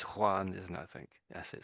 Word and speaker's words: Juan: So it looks like a J but a lot of people say I suppose and and Juan here that's there in English looks like Jane maybe but it's Juan isn't I think that's